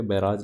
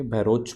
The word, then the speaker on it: बहरोज: ये स्पेलिंग जो है थोड़ा हिंदी में मिस्टेक है, बैराज नहीं है, ये बहरोज पर्वत।